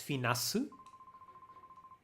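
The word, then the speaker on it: フェナス: Yeah, in Japanese, Finak, the last C is not a hard C. It's like an S. It's Finasu, the name.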